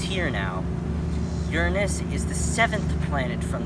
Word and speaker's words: Uranus: least it's here now Uranus is the seventh planet from the sun another pronunciation is Uranus but I'll stick with Uranus for now he has also has